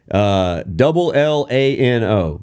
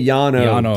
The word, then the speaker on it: Llano: There's this town in the hill country, Lano. You know how you say it? Lano. You don't say Llano, Texas. Now, if you're talking about the Llano Estacado, which is the shelf, you know, above the Cap Rock, that is the Llano Estacado. It's the exact same word, spelled exactly the same, but you have to pronounce it different depending on what you're talking about.